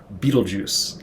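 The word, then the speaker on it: Betelgeuse: I think or whatever most people know Beetlejuice literally like the movie uh but it's spelled g-e-u-s-e and it is also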